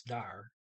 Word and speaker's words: der: Jeg, I, are, am, dar, is D-E-R, but it's dar, there, fra, from, et till Vera.